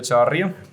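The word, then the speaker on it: Echavarría: Pedro Echavarria. Pedro Echavarria. Try that. That's a hard one. Echavarria. That's I'm a not hard doing one. that. Joel, what's his last name? Echavarria.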